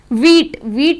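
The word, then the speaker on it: wheat: वीट में भी जो H है वो साइलेंट है।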